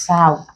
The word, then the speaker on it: sow: But then this word can also be pronounced as sow, the female of a pig. It's called sow.